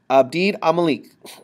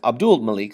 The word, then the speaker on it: Abdul Malik: common language umed khif Abid amalik will I'm sorry it's Abdul Malik sorry I said his name wrong will make Arabic the